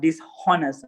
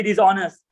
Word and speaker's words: dishonest: So they do say it with like H, dishonest, like kind of a thing, but it should be dishonest.